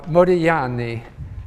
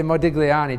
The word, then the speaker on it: Modigliani: pronounce his name uh modani uh because in Italian you don't pronounce the G although I tend to say Modigliani just to be understood